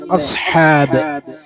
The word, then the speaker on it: أصحاب: പിന്നെ സാദ് ഉച്ചാരണം ശരിയാക്കണം അല്ലെ? അസ്ഹാബ്, അസ്ഹാബ് എന്ന് പറയരുത്, കൽക്കല വരാൻ പാടില്ല. അസ്ഹാബിൽ ഫീൽ പറ്റുമോ? പറ്റൂല. എങ്ങനെ ഓതണം? അസ്ഹാബുൽ ഫീൽ, അസ്ഹാബുൽ ഫീൽ. അസ് എന്ന് പറയരുത്, അസ്ഹാബ്, അസ്ഹാബ്.